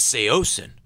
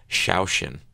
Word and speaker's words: Saosin: would get really mad it says say ocean well it says this yeah so sometimes i'll throw them for a loop say yeah i'd say ocean but i mean the the phonetic pronunciation is actually like shaoxin so that would really